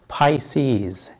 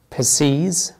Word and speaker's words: Pisces: وهذا البرج له أكثر من نطق، ولكن النطق السائع هو Pisces. Pisces. Pisces. وبإمكانك تسمع بعض الأجانب يقول Pisces. Pisces. وفي نطق أقل شيوعا ممكن ما تسمعوش بالمرة يسمى ينطق Pisces. Pisces.